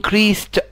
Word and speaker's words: increased: ونلاحظ حاجة كمان ان كلمة increased حرف الاس ده بيتنطق اس، ها ما بنقولش increased. ها وحاجة كمان الدي بتتنطق تي، يعني بقول increased، increased by ازدادت بمعدل 10% 10% last year السنة اللي فاتت.